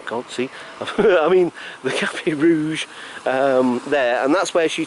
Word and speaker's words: Café Rouge: I always say Café Rogue because of my dyslexia, but I know it says Café Rouge, but I pronounce it Rogue because that's just me being funny.